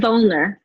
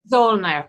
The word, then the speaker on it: Zoellner: I'll have you please pronounce the surname. I bet you get this all the time. Yes, no problem. Zollner. Zollner.